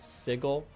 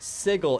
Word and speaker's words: sigil: It's pronounced sigil. It's pronounced sigil in D&D. The way that word is spelled, it should be sigil. But for some stupid reason, it's sigil.